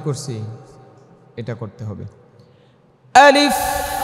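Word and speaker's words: ألف: ফাটা দেখছেন নি কি করছি এটা করতে হবে আলিফ ফায়ের আওয়াজটাকে চালু রাখতে হবে।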